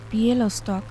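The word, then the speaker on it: Białystok: new uh you mean bialystok yep yup that's easy just pronounce it as it is written i call it pielo stock yes okay it's still recognizable uh that's the german name they know that is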